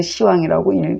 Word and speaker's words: 十王: 그리고 시왕이라고 안 읽어요. 비읍 탈락이에요. 항상 이건 시왕이라고 읽습니다.